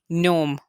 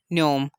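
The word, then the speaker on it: gnome: Fourth example है नोमन and fifth example है नोम। नोम या न्योम। तो यहाँ पर भी हम देख सकते हैं कि एन से पहले जी आ गया तो ऐसे वर्ड्स में हमने जी को साइलेंट करना होता है।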